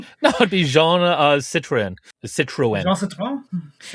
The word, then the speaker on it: Citroën: What he did was that accent the two dots over the e means that you pronounce it separately from the vowel that comes before it. So instead of citroen citroen, it's citroen.